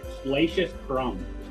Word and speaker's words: Salacious Crumb: I'm I'm not sure if I'm even going to pronounce it right. Sali Sal. Yes, he's right. Salacious crumb.